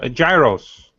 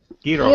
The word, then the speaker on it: Gyros: Gyros. Gyros. Gyros. Gyros. Gyros. I know those. Yeah, pronounce it like the annoying kid in Big Hero 6.